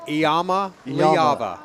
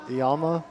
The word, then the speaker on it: Iamaleava: You know, it's a six-syllable name, but we're intelligent. We can pronounce Iamaleava. Say it for me again. Iamaleava. Iamaleava. Iamaleava.